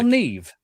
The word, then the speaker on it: Niamh: Have you seen how they spell Neve?